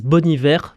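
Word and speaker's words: Bon Iver: En fait, il avait pris la locution française bon hiver euh qui vient d'une série,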